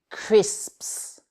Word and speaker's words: crisps: Et alors, chips, en anglais, ça se dit crisps. Crisps. Alors, le P de crisps est entouré de S. Entraînez-vous. Il faut vraiment prononcer tous les S qu'il y a.